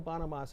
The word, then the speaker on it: Bonamassa: Joe Bonamassa. It took me a long time to pronounce his last name correctly.